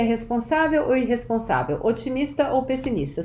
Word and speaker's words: responsável: Eu sou extrovertida, responsável, notice the acento agudo, this is where the stress syllable is, responsável, e otimista.